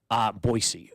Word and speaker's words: Boise: Boise is correct pronunciation.